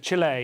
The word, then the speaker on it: Chile: uh Chile just had Chile do I have to say Chile Chile it's not the American way that's how Christopher Hitchens